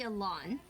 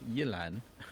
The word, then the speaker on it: Yelan: C2 Yalon using stringless, right? Yeah, C2 Since they Yelan were with not stringless. allowed to use Aqua Simulacra. Sorry, I just remembered the proper pronunciation is Yelan. Yalon. Yelan.